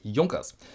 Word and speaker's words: Junkers: my name is and today's topic is Yonkers after my video how to pronounce German watch brands link over there some